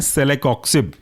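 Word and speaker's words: celecoxib: इसके एग्जाम्पल है सेलेकॉक्सिब, spelling है सेले CELE, कॉक्सिब COXIB। इसके जितने भी एग्जाम्पल हैं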